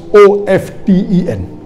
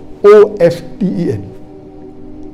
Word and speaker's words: often: Some will say often, some will say often. Previously it was often, then it became often. Now new people are saying often is correct. T is not silent, it should be pronounced. Some say T is silent, and then there's a big debate for that.